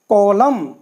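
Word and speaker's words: column: एन बोले नहीं इसमें इसी तरह से कलम देखिए में दोनों साथ आए हैं तो एन बिल्कुल साइलेंट हो गया कलम ऐसे ही हा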